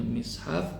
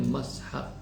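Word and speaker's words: مصحف: mushaf itu banyak riwayat ada yang membacanya mushaf ada yang bacanya mishhaf ada yang bacanya mashaf tapi yang masyhur cuma dua yang menyebut yang pal masur yang dua yang pertama mushaf yang kedua mishhaf walfathu abu jafariru dan yang membaca mashaf adalah Abu Jafar annahas wairu Asalamualaikum Waalaikumsalam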